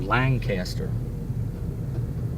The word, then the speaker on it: Lancaster: Or Lancaster. There's no G in it. We pronounce it Lancaster. The C is pronounced as K, not a G. Or there's not a G added.